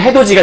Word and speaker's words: 해돋이: 그럼 최종 발음은 해, 도, 디. 요 디귿이 뒤로 가는 거니까 해도디가 된 거고 이 디귿이 뭘로 바뀌는 거냐면 지읒으로 바뀌는 해도지가 되는 거겠죠.